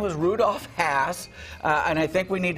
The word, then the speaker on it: Hass: guy's name was rudolph hass the guy's name was rudolph hass and i think we need to pronounce his name correctly don't you think think think as in pass or class yes